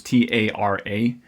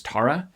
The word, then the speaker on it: Tara: daughter is named well her name is t-a-r-a and the way his family pronounces that name is tara but wherever he goes in canadian-speaking world they say tara just kind of no matter what so people make that